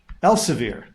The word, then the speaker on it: Elsevier: I know you you are uh you're is it Elsevir? Else, how do you say El Elsir? Elsir.